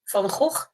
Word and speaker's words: Van Gogh: pronunciation? Van Gogh.